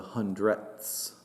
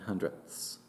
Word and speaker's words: hundredths: they're similar words but we have to pronounce their the end of those words so that we can hear uh precisely hundreds and hundredths this three is in